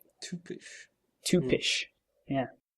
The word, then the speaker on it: typisch: in in German it's typisch. Tupish.